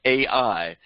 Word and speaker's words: Ai: And then we see Ai being destroyed, the city of Ai, and it's spelled Ai, so we call it Ai.